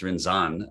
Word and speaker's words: Rinzan: Today, my guest is Rinzai priest, Rinzan. Great start. Rinzan, it's Rinzan Okay.